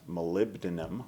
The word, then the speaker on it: molybdenum: And what they've done there is they've added 2% molybdenum, that's a mouthful.